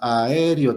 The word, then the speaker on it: aéreo: Si le pronunciamos esta otra E como I, entonces diríamos aéreo, tiene 3 sílabas, entonces ya se volvería grave.